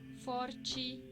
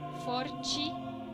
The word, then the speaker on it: forte: Pero si no tiene ningún acento y se encuentra al final de una palabra, adquiere el sonido de una I. Por ejemplo, desde, sete, sempre, firme, forte, sobre.